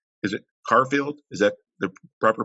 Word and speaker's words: Querfeld: to pronounce your last name correct is it carfield is that the proper pronunciation careful but you can you you just like okay christina corefield okay um we started out with a great